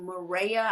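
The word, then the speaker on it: Mirreya: But there is an app called Maria. I think I'm pronouncing it right. is M I R R E Y A.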